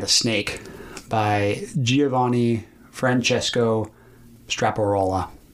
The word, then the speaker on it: Straparola: bianca bella and a snake by giovanni francesco straparola right that's how you pronounce it straparola okay it starts with this moral and i